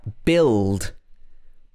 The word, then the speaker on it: build: example here we have build build built it's the past tense the building was built by builders builders so these are all pronounced build with b in the middle the u is silent also you can be